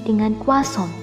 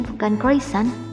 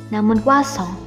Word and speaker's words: croissant: Mulai sekarang benerin pengucapanmu saat memesan menu ini dengan croissant. Jauh banget bukan dari kata-katanya, jadi bukan croissant, namun croissant.